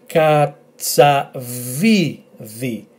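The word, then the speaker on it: κατσαβίδι: So we have k, a, ts, a, so katsa, katsa, v, i, and this letter is pronounced the, as in then, i. So altogether, katsa, vi, vi, katsa, vi, vi, katsa, vi, vi, katsa, vi, vi, which is a screwdriver.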